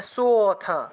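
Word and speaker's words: সোঽথ: এই লুপ্ত অ এর উচ্চারণটা সটাকে টান দিয়ে উচ্চারণ করলেই অ এর উচ্চারণটা চলে আসে, তাহলে সোথ, সোথ, এইভাবে একটু টান দিতে হবে, সোথ।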